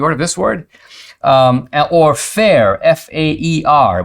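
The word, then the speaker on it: faer: Or fair, F-A-E-R, which is pronounced kind of like fair.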